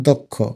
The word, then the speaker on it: দক্ষ: দক্ষ দক্ষ বলি না দক্ষ অর্থাৎ দকে আলতো করে ওকারের মত উচ্চারণ করি এজন্য দ ওকার লিখতে